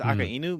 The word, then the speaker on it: Akainu: You know, I always thought it was Akainu too, but I think it's Akainu mainly because Inu means dog, and he's supposed to be that makes dog.